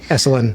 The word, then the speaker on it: Esalen: Esalen. Am I saying that wrong? No, you're saying it right.